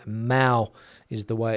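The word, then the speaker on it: Mahou: And if you're not familiar with the Mao beer brand, a lot of people have trouble pronouncing that name. Mao is the way it's pronounced.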